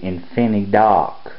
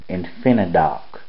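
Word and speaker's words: InfiniDock: on the topic there's one also called the infin do infinid do and uh it's spelled i n f i n i d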